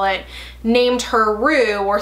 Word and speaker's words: Roux: like that, and then I changed it to Roux, R-O-U-X, to give it like a little bit of pizzazz, make it a little fancier.